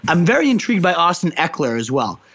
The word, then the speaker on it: Ekeler: I'm very intrigued by Austin Ekeler as well. I think that's how you say it, Ekeler, I believe, for the Los Angeles